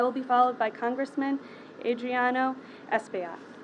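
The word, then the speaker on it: Adriano Espaillat: thank you i will be followed by congressman adriano espeona she pronounced my name right thank you captain and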